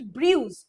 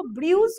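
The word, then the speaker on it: brew: তাহলে এখানে দেখো ব্রিউজ কথাটার মানে, জেনারেলি ব্রিউ কথাটা আমরা কফির কথায় শুনে থাকবে, ব্রিওয়ারি কথাটার মানে হলো অ্যাকচুয়ালি ব্রু কথাটা, ব্রিউ নয়, প্রোনাউন্সিয়েশন ইজ ব্রু, যেটা দিয়ে কফিটারও দেখবে একটা কফির ব্র্যান্ডের নাম আছে ব্রু।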